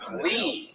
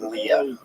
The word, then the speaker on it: Lea: here put your hands together for Lee M here he comes coming yes here